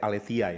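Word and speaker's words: ἀλήθεια: Saudara kalau tahu kata Aletheia, bacanya sebenarnya Aletheia ya. Aletheia atau bacanya Aletheia.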